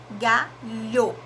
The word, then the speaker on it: galho: som, como a palavra galho, lho. Eu tenho 4 fonemas. Por quê? Eu pronuncio G, o A, o LH, pronuncio um som só, por isso que a gente retomou dígrafo, e o O.